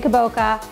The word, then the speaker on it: kabocha: in the winter is kabuchi squash i know i know you say kaboka i say kabuchi but more importantly than